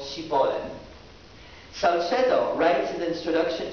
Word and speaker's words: Shibboleth: to utter the word Shibboleth. The Ephraimites, unable to enunciate the sh sound, pronounced it Shibboleth, and in doing so sentenced themselves to death.